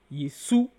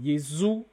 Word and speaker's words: Jésus: Nous avons vu que Jésus peut se prononcer dans d'autres langues comme Yesu, ou comme Yezu, ou comme Yezu, ou comme Issa.